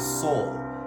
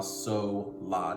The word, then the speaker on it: sol: It's actually pronounced sol, S-O-L. And the reason for the confusion is because right after sol is the syllable la. So when you say sol, la, that L in sol sometimes gets lost in translation and it sounds like so, la.